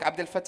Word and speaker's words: Abdelfettah: abdal and that's because my name in Arabic Abdul fat has the and Europeans don't know how to pronounce that right so I'm a developer Advocate